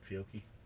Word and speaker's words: Fiocchi: I got to shoot a 10mm Glock 40, real Glock 40, 10mm, some Fiocchi in it. Is that how you pronounce it? Fiocchi?